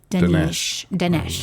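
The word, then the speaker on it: Danesh: Ali Dinesh. Yeah. And it's spelled like Danish, Danish.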